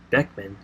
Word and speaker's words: Beckman: who wrote as Charles Bookman our Beckman jr. died October 12 2015 that's how you actually say his name it was back then